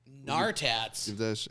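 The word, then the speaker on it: Gnartats: Nartats. How do you spell that? GNAR. GNAR. EJ. Good thing you spelled that. I would have been KNNAR. It's like gnome, the G silent.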